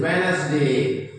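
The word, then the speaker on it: Wednesday: जैसे हम आमतौर पर ज्यादातर लोग पढ़ते हैं वेडनेसडे, बट द वेडनेसडे is wrong, because आप देखोगे वेडनेसडे में एन के पहले डी आ रहा है, तो हम इसे कैसे वेडनेसडे पढ़ेंगे? डी is silent, D silent है, तो हम इसे क्या पढ़ेंगे?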